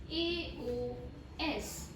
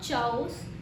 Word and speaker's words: chaos: Next word in the list है CHAOS. This is not chaos. It is pronounced as KAYOS. Chaos.